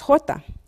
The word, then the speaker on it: jota: what the unit because the letter J in Spanish is pronounced Horta the word hora also happens